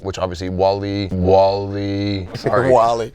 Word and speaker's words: Wale: Welty for saying Wale like Wally. The dunks, right? Which obviously Wally. Sorry, Wally. Wally. Yeah, Like the movie, right?